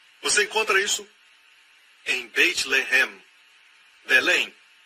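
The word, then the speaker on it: לֶחֶם: Mesma escrita, a única diferença é a pontuação. Eles colocam os pontos em diferentes lugares. Um é Lehem, o outro é Lahem.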